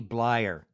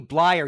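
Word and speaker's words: Bleier: i'd hear from block rocky blair it's rocky blyer rocky blair rocky blyer it's pronounced rocky blyer he was the fullback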